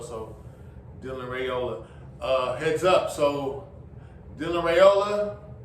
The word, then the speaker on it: Raiola: I've heard some people pronounce his name Raiola, but the more consistent pronunciation has been Raiola, so Dylan Raiola.